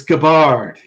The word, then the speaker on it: Gabbard: Maybe you got lucky and you'll get away with mispronouncing her name. It's Gabbard, Gary.